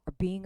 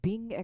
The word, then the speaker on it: being: 보통 강세는요.요 동사고 세 단어 가운데요 빙에 강하게 떨어진다는 걸 기억해 두세요. 아무리 빠른 속도로 읽어도요. being arranged being의 강세가 놓여 있다는 것.